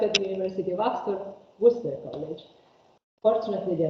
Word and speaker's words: Worcester: Worcester, which is one of the words where many of the letters are not pronounced. Worcester. Worcester. It's written Worcester, it's pronounced Worcester College.